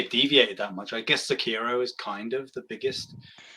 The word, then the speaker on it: Sekiro: so um so it's Sekiro. The R is pronounced a little bit differently than like it's like you hit the tongue a little different.